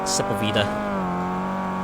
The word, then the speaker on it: Sepulveda: I pronounced that correct? Sepulveda.